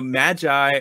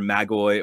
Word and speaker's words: Magi: So Magi, or a colleague of mine who does magic in early Christianity, pronounces it Magi. This is Shaylee Patel, who teaches up the road at Virginia Tech. She says Magi. I say Magi or Magi. And in the Greek, it's either Magoi or Magoi.